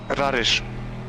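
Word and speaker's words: Rareș: It's an SH at the end, but yeah. Rarish. You all say it wrong anyway because it's pronounced differently in Romanian, but English people can't say it, so they just.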